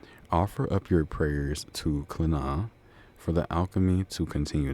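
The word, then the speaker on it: Clíodhna: But, it's pronounced I mean, but it's spelled c h l i o d h n a, but it's pronounced Cliodhna.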